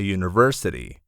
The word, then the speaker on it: university: Use an for an umbrella, vowel sound, but a university. The U sounds like Y, a consonant sound.